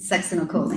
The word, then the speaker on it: succinylcholine: And so if the, which is the pronunciation, you pronounce it, Succinylcholine.